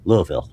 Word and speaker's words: Louisville: Louisville this year or I I guess it's pronounced Louisville, right?